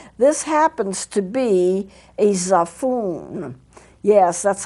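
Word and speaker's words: xaphoon: that same thing this happens to be a zafun yes that's how it's pronounced it says the phone sometimes called a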